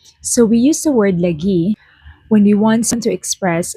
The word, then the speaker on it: lagi: This word is pronounced as lagi in Filipino or Tagalog, but in Bisaya, it is pronounced as lagi, which has different meanings or definitions depending on how it is being said.